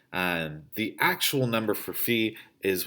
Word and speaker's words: phi: use the greek letter fee which sometimes pronounced phi but the traditional greek pronunciation is like the fees that you would pay for school or something like that